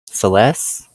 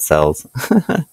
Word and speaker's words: Celes: It's pronounced like as in celestial. So like Celes, like that, Celes. Hopefully I'm saying that right. Sorry, I didn't think about that. I've always said it sells in my brain.